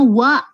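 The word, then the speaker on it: は: Itu dibacanya wa kedo. Itu dibacanya wa tapi ditulisnya tetap ha.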